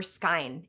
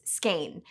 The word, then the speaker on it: skein: This word, for yarn or thread wound loosely on a reel, isn't pronounced skein or skein, it's skein.